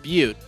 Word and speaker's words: Butte: In either case, it's pronounced Butte, but something just doesn't seem right about the way it's spelled.